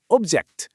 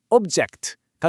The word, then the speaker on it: object: 가장 큰 차이점, 핵심은 바로 강세에 있습니다. 우리가 흔히 아는 사물이나 대상을 뜻하는 명사일 때는요, 앞에 힘을 줘서 object 이렇게 발음해요. 그런데 이게 동사가 되면요, 강세가 뒤로 싹 이동하면서 object가 됩니다.